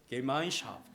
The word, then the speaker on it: Gemeinschaft: 우리 박은정 성도님 독일어 잘하시는데 제가 한번 이거 어떻게 발음하는지 좀 읽어보라고 말씀드릴까도 했는데 어떻게 발음하죠 이거? 박수 한번 하겠습니다. 우리 주영이 6개월 독일에 있다 왔는데 어떻게 한번 해볼까요? Gemeinschaft.